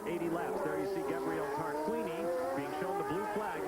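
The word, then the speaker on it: Tarquini: running the entire 80 laps there you see tar Queeny being shown the blue flag meaning you got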